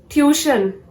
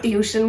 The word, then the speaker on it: tuition: Tuition. This is not tuition, guys. This is tuition. The correct pronunciation of this word is tuition.